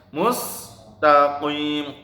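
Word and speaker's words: مستقيم: Nah, mustaqim saknya sa tipis. Sa biasa, ini jangan nah, salah. Yang benar mustaqim, qaf ya, qim gitu, mustaqim.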